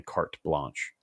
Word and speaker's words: carte blanche: mispronouncing it but it's there's definitely a t in there it's definitely carte blanche okay cart hey Joyce